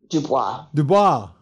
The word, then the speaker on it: Dubois: Dubois.